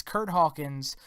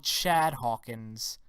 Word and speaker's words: Curt Hawkins: for some whatever reason mauro ranallo cannot pronounce our next competitors name right that's right it's Curt Hawkins who moro just love to call shad Hawkins going up against mojo